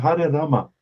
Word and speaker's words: Rama: Rama. É como Ramatiz, né? O R, em sânscrito, se pronuncia com R.